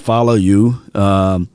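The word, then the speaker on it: Faoliu: the polynesians out there the people that reached out to me said his name is pronounced follow you good situation for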